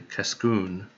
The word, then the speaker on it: Cascoon: over okay so dammit i just noticed that the emphasis was in the wrong place so that's supposed to be cascoon but i can easily